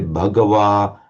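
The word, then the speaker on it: Bhagavā: If you want to try and pronounce it as close as possible to how the Buddha might have pronounced it, say Bhagawa and Sugdho.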